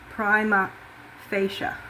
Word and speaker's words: prima facie: So today's presentation is about securization audits and prima fasci evidence requirement in quite title actions and primaasi is also pronounced primma fascia primmaaccia. Okay, just so we know how to pronounce that word.